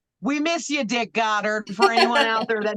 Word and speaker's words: Goddard: So if I'm pronouncing Oh, it Goddard, like Goddard, Dick yeah.